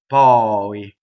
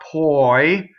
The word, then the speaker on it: poi: Ma is a strong monosyllable, so it doubles the P of poi. And it does not rhyme with boy. It's not poi. It's poi. O-I. Ma poi.